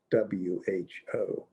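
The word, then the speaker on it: hu: pinyin as h.e.u and pronounced like the english word w-h-o who who who who and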